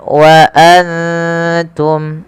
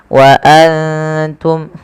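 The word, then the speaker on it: وأنتم: dalam rasum utsmaninya kemudian Wa Antum ada nun sukun yang tidak berharakat bertemu ta kita baca dengan bacaan Ikhfa yaitu cara membacanya menyamarkan suara nunnya kepada huruf wa waantum ya seperti itu waantum kemudian jelaskan suara mimnya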